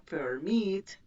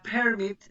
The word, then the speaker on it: permit: Si son de dos sílabas, with stress on the second, con acento en la segunda, permit, entonces doblo consonante. Si fuera permit, no doblo consonante, pero como tiene el acento en la segunda, sí la doblo.